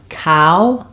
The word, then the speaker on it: cow: vowel call um and cow ow has the ow dip thong so um cow is like now call is like tall